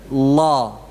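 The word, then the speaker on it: الله: apa Qul huwal lah ini yang saya ingin garis bawahi pengucapan lamnya Jamaah ya jadi di apa tumpuan ditempelkan ke langit-langit ya tapi kan itu tipis yang benar tebal wow sambil pangkal apa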